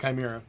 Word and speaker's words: chimera: I pronounce it chimera because that's how it's supposed to be pronounced, I think.